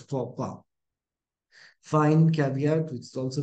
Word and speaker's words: faux pas: It's not faux pas, but faux pas.